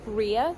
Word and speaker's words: rear: Then, oh, but the brakes, some bicycles only have rear brakes, so the brakes on the back wheel, rear, they're pronounced rear.